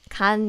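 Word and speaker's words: 간: say this means liver kan means liver liver liver this is very short we already covered this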